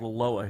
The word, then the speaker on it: Aloha: the next little area over is called aloa but it's spelt aloha we just called aloa here guys don't forget to